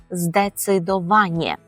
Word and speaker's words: zdecydowanie: використовувати слово здецидувание здецидование тут будь ласка при вимові пам'ятаємо що і е читається як є тому в кінці буде Ні здецидоває і це слово українською